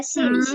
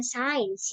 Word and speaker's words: since: Dan jangan lupa ini cara bacanya bukan science ya, tetapi apa tadi? Since. Since. That's right. Karena masih banyak kadang tuh yang ngebaca jadi science kayak gitu ya. Padahal harusnya dia since.